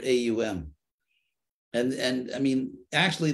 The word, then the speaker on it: Om: so as far as om om or omkara as it's sometimes called um phonetically um the word own is actually has three phonetic Elements which are AUM and and I mean